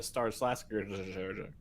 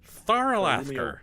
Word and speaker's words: Tharalasker: We're just passing through on our way to Star Slasker. Tharalasker. What did you just say? I'm told that's how the locals pronounce it by a very rude man.